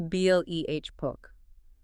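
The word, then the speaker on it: βλέπω: Blipo. I see. Pronounce the B-L-E-H poke. Stress on the first syllable there.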